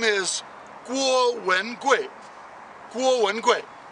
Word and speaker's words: Guo Wengui: Guo Wengui. Okay, Guo is the first tone. Wen is the second tone. Gui is the fourth tone. So that's how you say his name in Chinese.